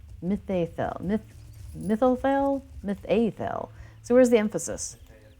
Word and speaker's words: Mitheithel: The consensus is currently Mitheithel. Mitheithel.